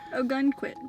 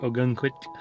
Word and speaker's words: Ogunquit: i said it right no you didn't it's not sdon it's quit oh a gun squid we cannot get this name a gun queen yeah a gun quit a gun quick a